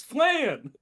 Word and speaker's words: flan: It's flan. Rhymes with Fran.